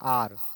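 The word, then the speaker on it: hour: उच्चारण हो रहा है आर इसको हावर नहीं बोलते आर बोलते हैं तो आ जब लिखेंगे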